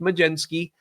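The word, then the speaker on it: Mlodzinski: that first game, Carmen Majinski. It is not spelled that way, but it's pronounced Majenski.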